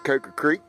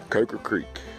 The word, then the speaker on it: Coker Creek: If you want to say it properly, or what some people call proper. Coker Creek. For me, it's Coker Creek. I was taught by my granddaddy to say it that way.